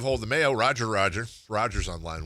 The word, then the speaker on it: Roger: Congratulations, Roger. You know in Brazil, your name would be pronounced Hoger. True story. They don't do the R's. Yeah. Roger. Yeah, they call me Royer.